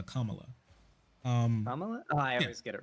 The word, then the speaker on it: Kamala: betting man oh and also her name is pronounced Kamala um I always get it wrong I'm sorry